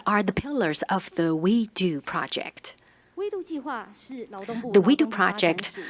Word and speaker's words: WEDU: is w w-e-d-u and the pronunciation we do sounds like we could do it so it really